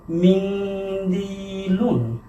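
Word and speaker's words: مِنْدِيلٌ: এই যে দালের আগে নুন আছে, এই কারণে কিন্তু আমরা গুণনা করে পড়লাম এবং দালের পরে আছে ইয়া, ইয়ার উপরে যজম আছে, এর কারণে এক আলিফ টেনে পড়লাম। উচ্চারণটা কি হবে? মিন্দিলুন।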